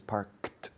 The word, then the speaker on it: parked: Claro, se escribe worked, parked, con ed al final, pero la pronunciación es parked, de K una T, sin ninguna vocal en medio.